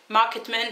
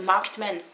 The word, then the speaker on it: Marked Men: Market Men, non, le ED ne se prononce jamais ED en anglais. Jamais, jamais, jamais. Après, vous pouvez faire des erreurs, hein, mais non, c'est Marked Men.